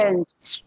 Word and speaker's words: change: Be careful not to break it into two syllables, because sometimes you say change and the E turns into a separate syllable, but you're not supposed to do that.